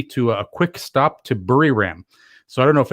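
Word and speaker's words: Buriram: we'll come right back bury ram whereas the thai people pronounce it is located 410 kilometers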